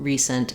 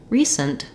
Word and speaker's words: recent: syllable stress and the second syllable in recent is reduced. So I have resend with clear F vowel and length, but in recent, it's almost like I don't say that vowel in the second syllable at all. It's going to be a little I sound or a schwa sound, but just try to go quickly from your s to your nt, sent, recent.